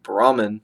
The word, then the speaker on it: Brahman: over an Indian say Brahman they're gonna think you're talking about the caste Brahmins they say boom boom boom they they pronounce the H BR h brah they